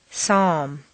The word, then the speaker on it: psalm: good news is that very often you don't even have to pronounce them. Read the following list of words after me. 1. Would, could, should. 2. Chalk, talk, walk. 3. Calm, palm, psalm.